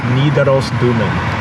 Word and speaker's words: Nidarosdomen: Nidarosdomen. Nidarosdomen. So it's like Nidaros Dome.